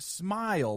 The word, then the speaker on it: Smey: It's supposed to be pronounced smile, but he wouldn't listen to me.